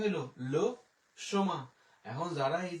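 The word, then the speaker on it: le chemin: না যে আমি ক্যাট সীমা আসছি, ঠিক আছে? এটা কিন্তু সীমা না, এটা হচ্ছে লো সোমা।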